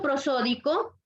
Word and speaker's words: prosódico: Que la palabra prosódico tiene la fuerza de voz en la penúltima sílaba.